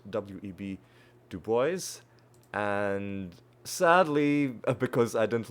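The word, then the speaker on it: W. E. B. Du Bois: share that uh that it's actually pronounced web to boys and sadly because I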